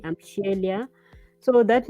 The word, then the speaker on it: Sheila: So for me, it's Shiyelia, like shield, Shiyelia.